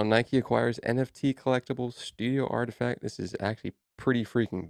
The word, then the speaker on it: RTFKT: collectibles saying they acquired artifact artifact is spelled rtfkt the acquisition announcement comes